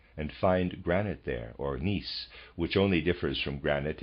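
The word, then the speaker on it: gneiss: have looked up the word g-n-e-i-s-s i've been pronouncing it nice i apologize the correct pronunciation is nice and the readers aside i did tell you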